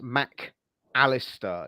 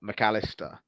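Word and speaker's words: Mac Allister: It's Mac-Allister, not McAllister. Yeah, it's two separate words.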